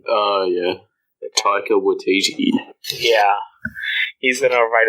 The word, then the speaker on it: Taika Waititi: I heard this today, I did hear that Taika Waititi's, I don't feel like I forget how to pronounce his name. Oh, yeah. Taika Waititi.